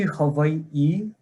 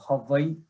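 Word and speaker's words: Hawaiʻi: okay so it's actually hawaii so the w is pronounced like a v and then that little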